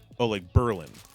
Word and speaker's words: Berlin: Yet it is, there's a town called Berlin in Wisconsin, but it's pronounced differently like Berlin.